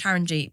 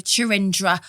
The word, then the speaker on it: Charanjeet: Her name's Charanjeet, but she calls herself Chaz. Again, assimilation. And someone was like, yeah, Chirindra. And I was like, no. I was like to my